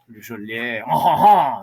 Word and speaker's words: Le Chatelier: Le Chatelier is principal, if we say it correctly. Le Chatelier, is the correct way to say it.